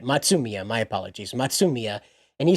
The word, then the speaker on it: Matsumiya: But you have Matsumiya. Yeah, that's how you say it. Matsumiya, my apologies.